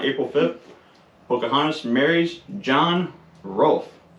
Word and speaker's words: Rolfe: 5th Pocahontas marries John Rolfe Rolf r-o-l-f-e if I'm not pronouncing it right just bear with me not John Ralph Rolf I guess in the